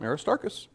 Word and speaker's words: Aristarchus: Aristarchus? Yeah? At least I assume that's how it's pronounced. Aristarchus, yeah? Acts 19, he's mentioned as a companion. Yep, Aristarchus.